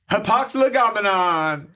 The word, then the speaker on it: hapax legomenon: And that makes it Hapax legomenon.